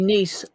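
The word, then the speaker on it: Neese: Depends if that last E is a long E or kind of silent. Yes, she is. Edie's a woman. It'd be niece. Niece? N-E-E-S-E is a last name, a surname. It's niece. Niece.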